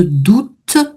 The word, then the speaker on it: doute: Je voulais juste revenir sur point de doute le doute. Et donc il fallait bien prononcer le T final.